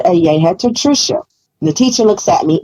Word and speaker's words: Tricia: it pronounced as such my name is Trisha it's not Teresa so how did how